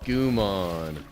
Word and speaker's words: Gomamon: No, Matt, you pronounced it wrong. The thing you got is called Gomamon.